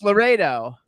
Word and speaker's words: Laureiro: That's not, doesn't look like Laredo. Yeah, well, I'm Italian, so I could speak it. So it's Laredo. Yes. Laredo. Laredo. Okay. No, not like Larry.